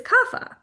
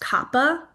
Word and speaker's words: Kapha: And then we're going to come to the last dosha which is kafa. Kafa is spelled k a ph. You may also hear it pronounced kappa or kafa.